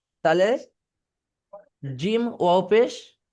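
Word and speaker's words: جيم: জিম চেপে, জিহ্বার মাঝখানে বরাবর তার উপরের তালুর সাথে লাগিয়ে, জিম চেপে, বুঝতে পারছেন?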